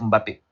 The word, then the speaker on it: Mbappé: si quand je prends Mbappé puis Mbappé prononci va prononcer quand tu viens devant Mbappé je vais dire monsieur Mbappé va dire non c'est pas Mbappé c'est Mbappé tout de suite il